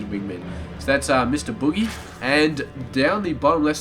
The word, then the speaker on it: Bughy: map it is going to be Boogie it's pronounced Boogie and he is going to be playing for